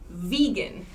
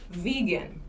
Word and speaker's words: vegan: veg and veg here vegan vegan and vegetarian so the e sound changes vegan and vegetarian so remember vegetarian has the same pronunciation as vegetable vegetable vegan takes a special pronunciation okay yes someone else